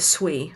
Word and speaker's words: Sui: See, the entire book, genuinely the entire book, and up until, so you pronounce it Sui, by the way.